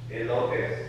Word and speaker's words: elotes: How do you pronounce that corn stuff that I get? Elotes.